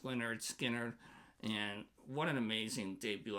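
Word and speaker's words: Lynyrd Skynyrd: 10, and that is Leonard Skard's, pronounced Leonard Skard.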